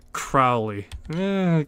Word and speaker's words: Crowley: It's pronounced Crowley. Go either way, to be honest. But yeah, I get it. If I'm not mistaken, that is actually how you say it in the show, Crowley, though.